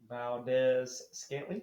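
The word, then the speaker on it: Marquez Valdes-Scantling: Valdez Scantley.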